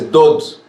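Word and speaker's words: דוד: Y recordemos algo muy interesante, y es David, en hebreo, se escribe Dalet Vav Dalet, que también se dice Dod, y Dod quiere decir amado.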